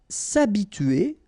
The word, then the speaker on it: s'habituer: S'habituer à. So remember, H is not pronounced here, so it's a, and then tuer here.